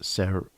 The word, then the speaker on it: Seru: The Seru, pronounced Seru.